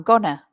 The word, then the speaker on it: going to: And with the pronunciation of going to, I'm sure that you've heard this, but a lot of people say, I'm gonna. So going to is often reduced in very fast English to gonna.